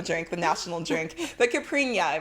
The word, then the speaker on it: Caipirinha: You have to pronounce it for me. Caipirinha. I don't know why I can't say that. Caipirinha.